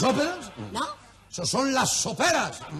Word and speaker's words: sopera: ¡Esos son las soperas! ¡Sopera! Con acento en la pera.